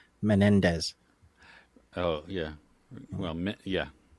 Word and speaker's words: Menendez: that's you should you should see me trying to pronounce menes which is how I pronounced it instead of Menendez oh yeah well yeah